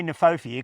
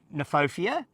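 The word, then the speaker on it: Kniphofia: say it neopia yeah I would say neopia cuz K is silent I'm not sure about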